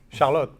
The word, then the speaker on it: Charlotte: Charlotte. Yeah, I have to learn Dutch. Hold on. How would I pronounce it? Charlotte. That's the Charlotte? French way. Yeah. Okay. There you go. No, the French way.